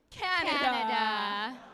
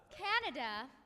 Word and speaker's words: Canada: in the southwest east canada canada is spelled c a n a d a with the emphasis on the first syllable canada um and backwards